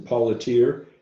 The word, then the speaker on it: Paulateer: Second person I want to introduce is Paulateer. Did I pronounce that correctly?